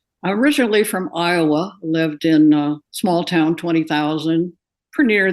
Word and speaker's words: Ina: pronounced many different ways what's the correct pronunciation it's and you know I get called Ena of course in Europe but my maternal grandmother I'm named for her and that's Ina Ina gin okay so let's